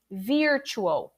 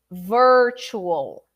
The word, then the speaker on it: virtual: in joining us um people usually say virtual virtuo that's the mistake virtual assistant or anything related to the word virtual so repeat with me